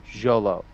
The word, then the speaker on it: Xolo: asks him at Comic-Con how to pronounce his name and he said Jolo because it's like X oh something yeah Xolo